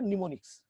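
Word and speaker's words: mnemonics: নিমোনিক্স এর বানানটা কিন্তু আমার এম, এম সামনে, ঠিক আছে, উচ্চারণ হবে নিমোনিক্স। ঠিক আছে, সেই নিমোনিক্স মানে হচ্ছে আমাদের ইংলিশটাকে এই যে ছোট করা।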